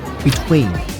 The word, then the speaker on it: btwn: on level three is served at btwn n which is pronounced between how you doing good